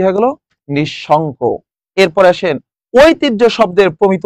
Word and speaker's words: নিঃশঙ্ক: নিঃশঙ্ক। শব্দের প্রমিত উচ্চারণ কোনটি?